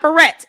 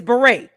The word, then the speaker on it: beret: It's not barret. It's beret. Beret. Beret.